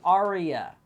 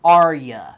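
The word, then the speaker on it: Arya: say REO without saying aria her name is spelled ary a not like a type of song it's aria so try to say it without saying Aria and goodnight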